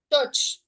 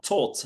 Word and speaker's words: taught: Touch. What is it? Touch. Taught. Yes. Taught, not touch.